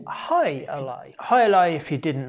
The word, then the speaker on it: Jai Alai: cigar city brewing um where they pronounced it hi alai hi alai if you